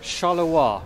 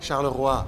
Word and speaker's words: Charleroi: Charleroi. Charleroi. Charleroi, with that French accent.